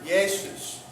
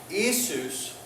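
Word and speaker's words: Ἰησοῦς: not Epsilon Iota if the Iota happens at the beginning of a of a word like in the word yesus that it's not e isus but it's y there's a there's a y sound so it actually it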